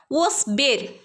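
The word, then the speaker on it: واصبر: വസ്ബിർ, ഇവിടെ വാവിൻ്റെ ഉച്ചാരണം നമ്മൾ പറഞ്ഞതാണ്. ചുണ്ടിനെ സർക്കിളാക്കി പിടിച്ചിട്ട് വേണം വാ ഉച്ചരിക്കാൻ.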